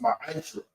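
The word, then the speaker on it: מעשר: It means 10th in Hebrew, and it's pronounced ma'ashra.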